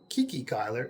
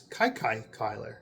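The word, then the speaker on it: Kiki Cuyler: Manini, uh I just learned that it's not Kiki Kyler, it's Kai Kai Kyler. Um as John said in one of his recent videos, it's because he stuttered.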